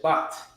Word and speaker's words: Shabbat: You pronounce it Shabbat. Shabbat. Shabbat. So this is one word, Sha, and then the Ba and the Ta are connected. So it's Shabbat. Right? Read the definition for me. Shabbat. Shabbat.